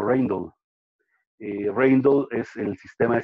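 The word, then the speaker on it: Rijndael: algunas palabras de ellos, lo pronuncian en inglés, ellos no son de Estados Unidos, son de Europa, lo pronuncian como Reindl.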